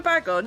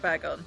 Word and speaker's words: Bagon: I'll go for Bagon. Yeah, I like Bagon. Like bagels, Yeah. bagels. Strangely muscular Sharpedo.